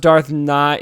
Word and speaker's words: Nihilus: It's pronounced Darth Nihilus.